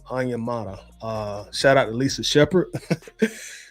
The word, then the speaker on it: Onyemata: And I finally figured out how to say his name, Onyemata.